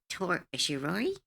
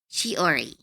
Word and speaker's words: Shiori: 'Cause their vibe is reminding me of Shirori? How do I say her name? Shiori.